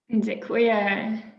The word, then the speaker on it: Dziękuję: Dziękuję. Thank you, Michał. Am I any better this time? That's the correct pronunciation, Hannah.